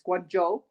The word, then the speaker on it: Guangzhou: of the city wrong it's guangzhou okay i've learned i've learned that from the audiobook i've learned so much mandarin in the last couple weeks that i had no idea um that i was saying it wrong but it is the